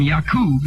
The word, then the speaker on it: Yakub: people and come from yakub is the correct pronunciation what does that say